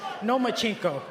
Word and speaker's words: Lomachenko: I think you said his name wrong. It's Lomachenko because he doesn't want to fight me.